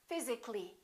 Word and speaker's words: physically: Physically, not physically.